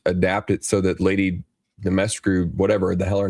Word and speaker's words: Dimitrescu: Dimitrescu, by the way, is how it's pronounced.